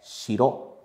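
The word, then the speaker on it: 城: E a pronúncia da palavra é shiro, shiro.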